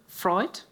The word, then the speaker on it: Vreugd: And then we have Shariff Vreugd. I cannot pronounce it on the correct way, so I'm sorry about my...